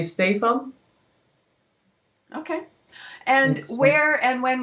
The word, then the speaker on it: Stephan: say your name um if i have to do it phonetically in english i would say stay and what would you say how do you introduce yourself at home um at home i would say stay from okay and where and